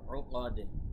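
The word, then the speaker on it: عُقَد: নাফাসাতি ফা এখানে এক লিফ টান, ফা এখানেও এক লিফ টান, তি তারপরে ফিল উকাদ, উকাদ এখানে কলকলা হবে শেষে।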